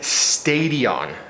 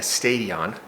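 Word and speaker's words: Stadion: I am signed up to do a Spartan Stadium. I think that's how you say it. It's S T A D I O N, not Stadium.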